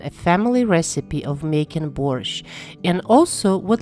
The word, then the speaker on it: borsch: T at the end there is no letter T in Russian pronunciation it's pronounced borscht n it comes from